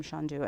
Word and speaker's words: Chandu: You know, they have that kind of lilting accent, and it was a soft C instead of the hard C. Yes. And so it just became Chandu, and that's how I've